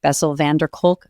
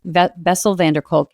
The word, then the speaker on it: Bessel van der Kolk: The man who wrote The Body Keeps the Score, Bessel van der Kolk, I think is how you pronounce his name.